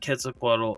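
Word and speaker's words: Quetzalcoatl: striking image so um for those looking to spell it it's q u e t z c o a t l um KET quaddle uh I also know that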